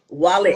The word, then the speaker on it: Walach: Walach. Walach. Mhm. Okay, the H is silent.